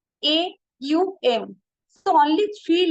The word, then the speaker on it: Aum: but vast in meaning only two letter O M actual pronunciation is a u m so only three letter